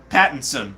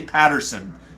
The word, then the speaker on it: Pattinson: his last name right pattinson sometimes i say patterson and i want to get it right so robert pattinson i